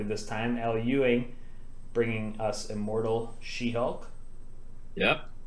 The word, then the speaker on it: Al Ewing: So let's run it back from the top, and I'll pronounce Al Ewing's name correctly this time. Al Ewing, bringing us Immortal She-Hulk.